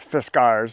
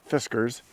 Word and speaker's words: Fiskars: don't know the fisar corporation and it is pronounced fisgars not fiskers because fiskers is a uh cat food um